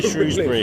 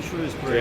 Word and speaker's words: Shrewsbury: That, like, even we can't decide how to say it. I say Shrewsbury. I say Shrewsbury. Because a shrew is a shrew, right?